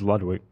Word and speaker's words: Ludwig: Are we saying his name wrong? People are saying Ludwig. Or is that a meme? It's Ludwig.